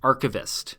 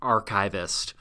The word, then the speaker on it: archivist: And yes, that is how you pronounce it: archivist and archival, not archivist or archival.